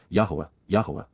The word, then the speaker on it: Yahowah: to face and appear with the appearance of yahwah yah the proper pronunciation of the name of eloa God as